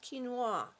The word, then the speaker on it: quinoa: is actually spelled we know it but it's pronounced quinoa don't ask me why it's a it's because